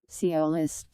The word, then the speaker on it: sciolist: Sci- The primary emphasis is on the first syllable. Sci- Sciolist. Okay.